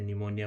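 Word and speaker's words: pneumonia: जब भी अब इनको बोलना हो तो इनमें साइलेंट वाला जो होता है जैसे नेट में ऑनर में आवर में जी और एच एच या निमोनिया में पी।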